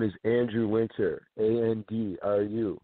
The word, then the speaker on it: Andru: and then I'll say goodbye my name is Andrew winter and be are you yes I know it's spelled weird but it's Mandy are you winter